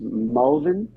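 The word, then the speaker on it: Malvern: We live in Melbourne, uh, which they pronounce Mulvin, uh, M.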